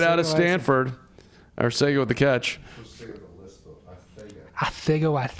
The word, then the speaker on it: Arcega: That's the proper way to pronounce it. Arcega Whiteside. Calling a hold on the D. So like you have to like lisp Arcega, but you have to say Whiteside correctly, because like that's got